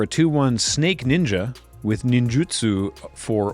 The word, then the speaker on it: ninjutsu: as guilty of this, it's not ninjitsu, it's ninjutsu. It's a U, not an I. And you pronounce Japanese exactly the way that it's spelled when it's romanized. So it's ninjutsu.